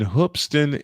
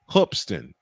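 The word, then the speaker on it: Hoopeston: There's a high school in Hoopston, Illinois. Spelled it is spelled hoop with an e s t o n, but it's pronounced Hoopston.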